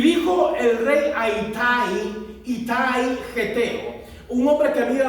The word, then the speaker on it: Itai: O Itaí, dicen algunos. Aquí no le veo el acento en la I.